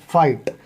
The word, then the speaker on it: fight: जैसे FIGHT, फाइट, तो आवाज़ किस किस की निकली, GH की बिल्कुल नहीं निकली, FIGHT, फाइट, है ना।